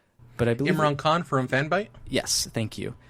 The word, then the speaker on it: Imran Khan: I may be saying his name wrong, but I believe Imran Khan from Fanbyte?